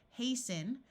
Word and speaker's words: hasten: the T sound disappears hasten the same thing happens here the root is haste and we add the n and the T sound disappears and fasten two other